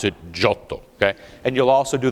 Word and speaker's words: Giotto: or as we mutilate that name in English Giotto okay but after an evening with me you'll pronounce it shuttle okay and you'll also do the dramatic hand